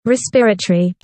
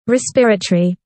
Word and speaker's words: respiratory: He's giving more priority to his beard than he is to the respiratory passages respiratory (correct pronunciation) respiratory (wrong pronunciation ) respiratory (correct pronunciation) Bless our brothers and sisters they